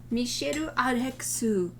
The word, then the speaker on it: Misyr Rex: from cafe au chateau mishiro arexu and the the way it's written in english doesn't match that pronunciation but it's m-i-s-y-r rex but that's me i